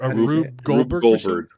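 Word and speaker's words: Rube Goldberg: If if you set up a Rubber machine that I could set off and kill myself or maybe you set off and then I rubber machine.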